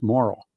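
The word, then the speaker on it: Morrall: John came in late Morel is pronounced moral okay it's been a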